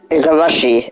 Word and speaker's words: Igarashi: Sorry, my pronunciation. Igarashi. Wait, okay. Igarashi, that's how you say it.